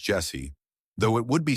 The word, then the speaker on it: Jhessye: Jesse Joshua Shockley was born on September 9th, 2006 in California. Her name is pronounced Jesse, though it would be spelled in various ways throughout the media coverage of her case.